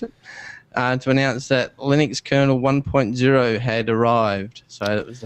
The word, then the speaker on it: Linux: That actually, we pronounce it Linux, but there's actually a recording. You can find it if you hunt for it. And it's somebody actually asked Linus how you say it, and he said, I call it Linux because it's named after him. So even though we actually all call it Linux, it is actually called Linux.